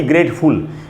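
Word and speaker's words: grateful: होते हैं unmefual का उच्चारण फुल नहीं फल करना चाहिए इसीलिए इसको हम पढ़ेंगे ग्रेट फॉल lucky ग्रेट फुल ग्रेट फॉल और उसकी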